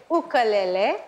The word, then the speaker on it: ukulele: ni I am from Hawaii and you actually pronounce it ukalele okele okele but he is listening to me